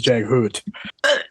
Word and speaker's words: Jaghut: And I think the Jaghut is Jaghoot.